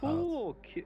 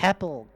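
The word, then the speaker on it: Kepple: Kipple?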